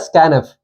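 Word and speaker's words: scanf: Tenth difference का ये है इसमें कि स्कैनफ यूज करते हैं हम, this is pronounced as स्कैनफ।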